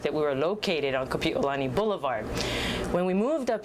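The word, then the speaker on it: Kapiʻolani: her name is pronounced kapiolani so there's a break between the i and the o and when you say correctly kapiolani it means the arch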